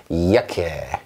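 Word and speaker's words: Jacke: 이야케 이렇게 읽습니다. 이야케. 자, 자케라고 하고 싶죠? 저도 그 마음 압니다. 알지만 이거 이야케 이렇게 해주시면 되겠습니다.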